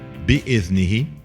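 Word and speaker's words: بإذنه: So that's option number 1, pronounced bi'idhnihi. Or option number 2, ba, alif, a carrier for the hamze. So that's the hamze, that's the dal, noon, ha. Bi'idhnihi, pronounced the same way, written differently.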